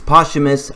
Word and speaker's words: posthumous: the rest of the video so we have posthumous yeah it's really weird the T is silent it's actually like a sea sound so it's it's posthumous army I'm just gonna call it zombie army